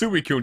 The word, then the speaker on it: Suicune: Suicune is pronounced Suicune. You don't commit suicide.